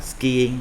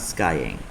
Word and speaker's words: skiing: Mình đọc là skiing, not skying.